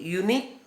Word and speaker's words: unique: This is a unique idea. Unique, U is a vowel, but its pronunciation, it sounds like a consonant, unique Y sound.